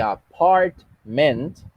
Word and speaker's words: apartment: Y en el caso de apartment, está en medio. Apartment.